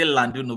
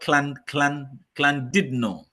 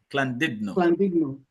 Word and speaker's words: Llandudno: It's a Welsh word. It's actually, if you pronounce it in English, you say Landuno, but as a Welsh word, it's called Llandudno. Llandudno.